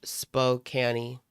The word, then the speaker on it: Spokane: It's pronounced spokani.